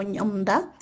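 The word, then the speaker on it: Ñomndaa: Bueno, espero, como les mencioné, que si hayan escuchado del idioma, regularmente se escucha más la variante de Xochislahuaca, que se pronuncia como ñomda, pero bueno, en este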